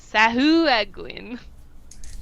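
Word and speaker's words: sahuagin: Actually, the the pronunciation is sahuin, but I call them sahuguins.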